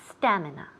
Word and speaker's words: stamina: so stamina stamina the the accent falls on the first syllable stamina stamina great and now